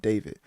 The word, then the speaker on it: D4VD: I believe he's an R&B artist, and it may be pronounced David.